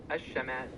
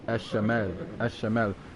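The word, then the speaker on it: الشمال: In Arabic, the north is said as Ash-Shamal. Ash-Shamal. And then south is Al-Janub, right? Exactly. You've got it right. What North about east? In Arabic is Ash-Shamal.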